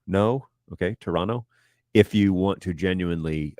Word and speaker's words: Toronto: you pronounce the city Toronto you're doing it wrong uh you don't pronounce the T you run the N into the O so it's Toronto Toronto no okay Toronto if you want to